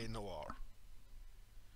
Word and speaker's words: noir: I just spoke about let's pronounce noir it is pronounced and wha-la noir it's kind of like a French pronunciation on it let's have